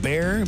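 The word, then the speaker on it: Baxar: Jared Neiman, Yeah, I'm gonna give October some- 8th with Bear, B-A-X-A-R is how it's spelled, but it's pronounced Bear.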